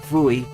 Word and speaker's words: Bui: In the Japanese version, it's basically supposed to be pronounced as Vui, as in buoy with a V.